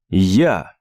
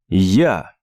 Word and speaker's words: Я: Я. Я. Pretty simple, right? It's basically as we say in English, I, but then backwards, я.